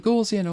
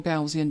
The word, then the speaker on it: Gaussian: one of these is the gaussian or gaussian depending on how you say it blur so put a